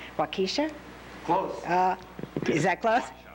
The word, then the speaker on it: Waukesha: and assistant vice president, and I'm hoping I pronounced this right, Waukesha? Close. Is that close? Waukesha Memorial Hospital in Waukesha, Wisconsin.